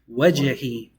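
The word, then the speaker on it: وجهي: Wajhi. The jim has a characteristic that bounces. Wajh. Wajhi. This one.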